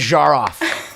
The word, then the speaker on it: Zharoff: And thank you for pronouncing my name beautifully, correctly. Wow. You got the French "je" right on.